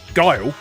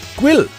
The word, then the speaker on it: Guile: One more thing, I've heard a few people adamantly insist Guile is pronounced Gwil, and I've absolutely no idea where that came from.